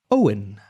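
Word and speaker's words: Eoghan: And the pronunciation is Owen.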